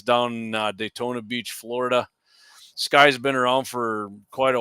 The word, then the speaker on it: SCCY: it's spelled SCCY Sky Firearms?